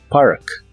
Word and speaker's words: park: Park que significa estacionarse se pronuncia como se escribe Y sí es igual que la palabra parque en inglés solo que Este es otro significado Park Park y usaremos el